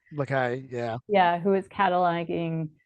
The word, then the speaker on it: Lacaille: Lacaille, yeah.